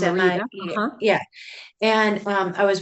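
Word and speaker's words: Mérida: Um, I've been looking because I was started looking like you Facebook pages and stuff at I don't even know if I'm pronouncing it right. Merida, Mexico. Oh, It's Marita.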